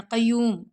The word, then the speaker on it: قیوم: پڑھیں گے الحی القیوم۔ جن کی تجوید ٹھیک نہیں ہوتی یا تلفظ ٹھیک نہیں ہوتے وہ پڑھتے ہیں الحی القیوم پڑھ دیتے ہیں، قیوم، تو قیوم نہیں ہوتا، قیوم، قیوم، یعنی کہ قاف کو ہم نے یا سے ملانا ہے، ٹھیک ہے، پھر یا